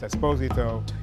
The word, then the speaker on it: Esposito: It's actually pronounced Esposito. It's not Espinosa, but it's close enough to be able to play a plethora of roles across a variety of time periods.